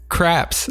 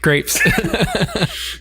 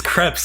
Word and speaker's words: crepes: another world episode eleven craps I had to say crepes crepes it's crepes that I'm gonna go on